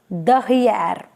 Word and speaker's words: derrière: So next is R again, and the last letter, that is A, it is silent. Again I repeat, D, E, R, R, E. This sorry, I is E and the sound is E O again, and A, accent grave, then R, then A. A is silent, which is coming at the end. So the whole pronunciation is derrière, right?